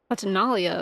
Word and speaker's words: Fontinalia: Happy Fontinalia Festival, you two. Fontinalia. Okay, that's how you say it.